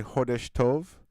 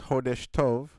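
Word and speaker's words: Chodesh Tov: So, I want to say heshtov to all our listeners. Heshtove, which is spelled c h o d e s h. Hesh which means month and to which means good.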